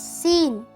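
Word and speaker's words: سين: Arabic alphabet is scen hi my name is seen scene scene scene for your understanding you can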